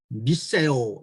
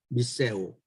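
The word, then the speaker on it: μισέω: 우리말에서 미워하다 이것은 히라보 성경 발음에는 미세오 이렇게 되어 있습니다. 미세오, 미워요, 미세오 참 그 언어적으로도 상당히 비슷하게 들립니다.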